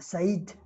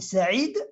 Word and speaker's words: Saïd: Donc, Saïd, hein, on a Saïd, la prononciation francisée, et Saïd, avec un Aïn, la prononciation arabe, la prononciation d'origine.